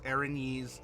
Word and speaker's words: Erinyes: the word probably a couple of years ago Erinyes from what I have used it as and what I have heard in several different D&D audiobooks aranese seems to be the pronounce that correct then I will trust your